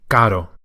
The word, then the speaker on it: caro: No need to roll the R as it's a single one. If it were double R, it would be caro. But with the single R, it's just a single flip. Caro.